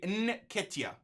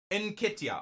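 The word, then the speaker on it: Nketiah: Nikitia. So you don't say N, you go N. Nikitia.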